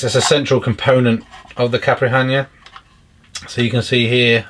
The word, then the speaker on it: Caipirinha: So we have a Velcro strap, TBS Caipirinha, that's how you pronounce it.